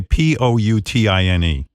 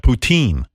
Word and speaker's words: poutine: How do you say Poutine? Poutin, right? Poutine.